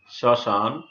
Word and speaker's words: শ্মশান: শ্মশান, এখানে তালবস্যায় ম ফলা ছিল, সেটি নাসিক্য হয়েছে শ্মশান, ইত্যাদি শব্দের উচ্চারণ আমরা এভাবেই লিখব।